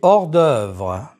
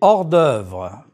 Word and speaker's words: hors d'œuvre: Les hors d'œuvre. Liaison and elision are not used with this H. Prononcez, s'il vous plaît. Les haricots verts. Les hors d'œuvre.